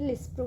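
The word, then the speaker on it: lispro: Rapid acting insulin जिसको हम बोलते हैं लिस्प्रो, यहाँ पे स्पेलिंग मैच है, मिस्टेक है, लिस्प्रो बोलते हैं।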